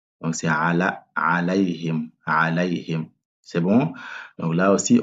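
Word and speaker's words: عَلَيْهِمْ: C'est pas alayhim. Ici, on a un fatha qui est là, sur le lam. Donc c'est alayhim.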